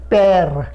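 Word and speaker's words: père: এবার সে যখন আকসাং গ্রাব বসবে ই এর মাথায়, সে এ উচ্চারণ দেবে, এ কিরকম দেখা যাক, যেরকম প্যার, পি, তারপরে একটা ই,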